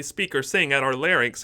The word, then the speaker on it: larynx: throat called a larynx important point that's larynx larry inks not larynx so don't say that or try to spell